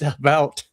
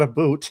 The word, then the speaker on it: about: So he says, not American, and I pronounce it about, not a boot.